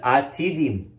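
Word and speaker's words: עתידים: It's spelled Atudim. The Chazan will read it Atidim, which means prepared.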